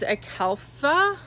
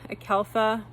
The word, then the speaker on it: Acalypha: The proper name is, I think to pronounce it, is Acalypha. Acalypha.